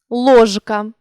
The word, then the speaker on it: ложка: рідко та навіть більше у кінці слова та перед глухим дзвінкі приголосні не оглушуються у більшості слів рибка ложка сторож вимовляємо дзвінкі приголосні у цих словах виразно і чітко не оглушуємо їх але є 5 слів